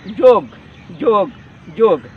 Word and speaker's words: योग: लेकिन अगर खाली योग लिखेंगे तो इसका उच्चारण है योग योग योग। योगा कभी भी आपका सटीक उच्चारण नहीं है, इसका सटीक उच्चारण होगा योग, ये संस्कृत ग्रामर के हिसाब में।